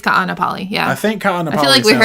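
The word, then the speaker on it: Kaʻanapali: Kanapali? Oh, shoot. That might be the one. How do you say it? What did I call it? Kapua. Ka'anapali. Ka'anapali. Oh, yeah, there's 2 A's. Yep. Ka'anapali.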